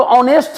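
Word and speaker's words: honest: देखिए यहां पर जो ऑनेस्ट है इस ऑनेस्ट को लिखते कैसे हैं ऑनेस्ट को ऐसे लिखते हैं यानी एच का उच्चारण होकर भी नहीं है अगर हमें एच दिखाई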